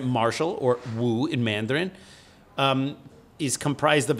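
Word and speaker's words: 武: It should be pronounced Wu.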